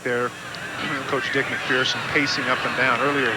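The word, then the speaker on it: MacPherson: Dick McPherson, the New England Patriot head coach, he prefers it to be pronounced McPherson. He says there's no fear in person.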